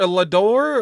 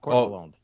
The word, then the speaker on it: Lalonde: how do you say your whole name? Lador? Or like, I don't want to butcher it, man. Like right. It's French Canadian. It's Lalonde. See, I can barely speak